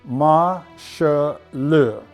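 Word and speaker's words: 马歇尔: we do know that the chinese characters are pronounced ma sha luh which is the chinese transliteration for marshall here we have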